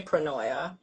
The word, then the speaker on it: pronoia: a medicine word so I did look it up about the pronunciation and on Google or whatever and it did say pronoia so I think we're good there um yeah when you